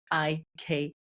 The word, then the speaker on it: Heike: So I said, okay, it's Heike, which also helped me.